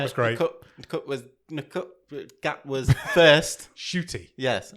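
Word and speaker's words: Ncuti: Shooty. Yes, you don't pronounce the N, and you randomly add a H.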